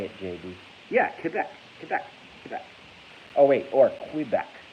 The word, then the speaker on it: Quebec: By the way, I love how Americans say Quebec. They say Quebec. It's Quebec, motherfucker.